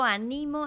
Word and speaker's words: animo: pero en los periódicos y sabemos que es una palabra aguda grave que tiene el acento en la segunda sílaba y es un verbo yo animo a mis estudiantes a que aprendan español y ánimo es